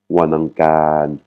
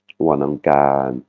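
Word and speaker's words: วันอังคาร: Mardi, Wanangkan. On voit bien la voyelle longue sur la dernière syllabe. Wanangkan.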